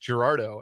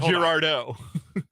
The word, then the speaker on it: Girardeau: I learned it's pronounced Gerardo and not Gerardo Gerardo legitimately guys I I thought it was Cape Girardeau all my life all right all right Gerardo yeah so you emphasized the D then yeah Gerardo that's probably